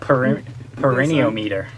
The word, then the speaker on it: perineometer: Perineometer. So it's like your perineum.